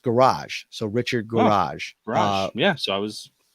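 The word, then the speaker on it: Gouraige: buddy in the chat I think it's Rick rarick there uh pronounced garage so Richard garage yeah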